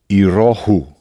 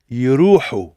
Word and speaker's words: يروحوا: يروحوا. You see how it's a you have to hear that H.